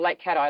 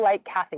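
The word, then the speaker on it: Lake Cathie: a tourist no local Lake cat ey local Lake catti which is often pronounced like Kathy don't say like Kathy to the locals that's how we know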